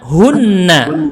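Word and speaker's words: هنّ: Kalau perempuan hunna. Coba baca hunna.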